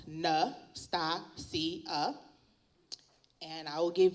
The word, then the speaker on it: Natasia: Nastasia M light um my name is pronounced n sta C and and I will